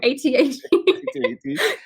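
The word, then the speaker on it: AT-AT: ATAT.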